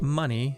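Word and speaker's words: Muny: Money. Not money. It's spelled differently. It's m u n y.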